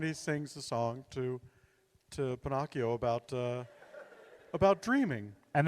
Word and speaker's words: Pinocchio: know this one called Pinocchio I'm not sure you're pronouncing it I believe it's Pinocchio it's about a little